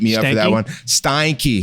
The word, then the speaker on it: Steinke: he's gonna beat me up for that one Steinke Steinke is how you say his name Randy yeah